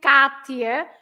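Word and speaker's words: Kátia: Katia, yes, Katia, because it has an accent on the A, you say Katia, otherwise it would be Katia.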